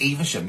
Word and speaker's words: Evesham: Well, I didn't, because people kept saying it's in Evesham, and I'm like, it's spelled Evesham. Evesham. Anyway, it's Evesham.